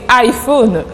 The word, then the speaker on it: iPhone: Le I en anglais se prononce I, c'est tout à fait normal.